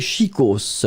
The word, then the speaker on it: chicos: le deè et bien c'est chicos chicos et on prononce le S final hein chicos quand vous